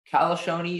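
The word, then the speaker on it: calascione: Calzone is the only pronunciation.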